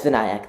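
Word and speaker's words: Vinayak: and uh welcome uh VNC am I pronouncing your name correctly um no but it's not a problem sorry how do you say your name uh uh it's vanc thank you for asking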